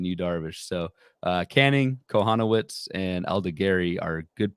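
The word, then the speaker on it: Kochanowicz: canning you've got this Jack konowitz is the proper pronunciation that he was allergic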